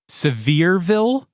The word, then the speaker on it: Sevierville: Palace in Sevierville Tennessee Sevierville that's how you pronounce it right it's not it's not spelled severe Ville yeah wow real place